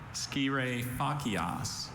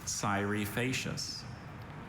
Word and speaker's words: scire facias: And it is Scirefacias, or Cyrifacius. Sire facias. Is this from Latin? Yes, it is. Sire facias. May I please have all the information? Cyrifacius, also Cyrifacius, also Cyrifacias, also Scirefacias.